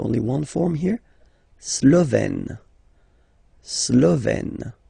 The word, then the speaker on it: Slovène: Slovène. Remember, E accent grave, you open it. Slovène.